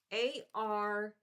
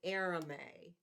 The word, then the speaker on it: arame: Although the description is going to be in the video, but it's Arame, Arame. You pronounce it Arame.